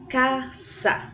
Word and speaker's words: casa: gente sabe que tem uma diferença na pronúncia do S, né, pessoal? O Szinho aqui. Então, preste atenção na pronúncia para que vocês vejam a diferença do primeiro A para o segundo A da palavra casa.